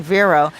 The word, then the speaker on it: Vero: already got stuck on vero because i wanted to pronounce it as verro v-e-r-o vero i want to pronounce it as in spanish but then you got